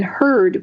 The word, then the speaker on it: Hurd: traditional spelling of and then heard which is spelled h-u-r-d h-u-r-d so the website is